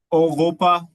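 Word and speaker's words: Europa: हां तो ये फिर ओगोपा ओगोपा ओो ओगोपा में अगर आप देखें यूरोप जो है उसको कहते हैं ओोपा ओगोपा इसी को देख के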